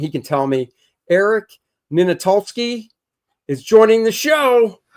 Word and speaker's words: Ninaltowski: Eric Ninaltowski is joining the show. How bad did I mess it up? Not too bad. It's Eric Ninaltowski.